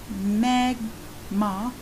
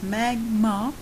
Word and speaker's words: Mi'kmaq: as the Atlantic provinces Mi'kmaq pronounced magma sorry I didn't run as well so it's magma traditional territories included Nova